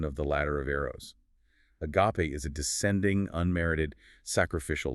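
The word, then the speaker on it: ἀγάπη: Agape. Pronounced a g a h p a.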